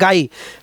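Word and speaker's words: Ngai: এন গাই বা নাগাই। এন্টা silent গাই।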